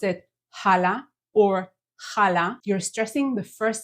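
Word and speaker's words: חלה: it like a local one it is not Hala it doesn't have an H at the beginning it has the sound that you learn very quickly how to perfect in the first module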